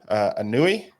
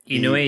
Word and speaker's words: Inui: And then we also know Anui. Is that how you say his name? Inui, yeah.